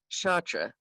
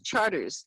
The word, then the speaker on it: Chartres: For example, you don't say Chartres Street in New Orleans. It's Charters there. It's Charter Street.